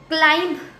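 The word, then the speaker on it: climb: क्लाइंब इसमें भी एम भी साथ आए, क्लाइंब B will be silent, B बहुत लाइट आएगा.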